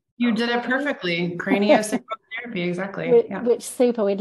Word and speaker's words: craniosacral: In fact, tell me how you pronounce that. Is that right? You did it perfectly. Craniosacral therapy, exactly.